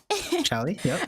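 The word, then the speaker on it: Shallie: you'll have to forgive me, I might incorrectly pronounce these Atellier Shelly Charalie Atelier Sophie and Atellier Fiser.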